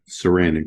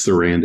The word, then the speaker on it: Sarandon: now you can uh now you can say his name properly Saran Chris surrender yeah I've always called him Chris Sarandon you think nope just like Susan all right well we've